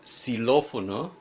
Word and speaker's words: xilófono: For example, the word xilófono, which means xylophone, the X is pronounced S.